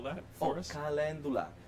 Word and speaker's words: calendula: Calendula. It's spelled Calendula.